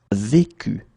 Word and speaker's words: vécu: Okay, so this is the reason why you will pronounce it vécu.